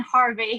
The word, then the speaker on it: Harvey: So it's Harvey. So with an IE on the end, and then Harvey, HARVEY.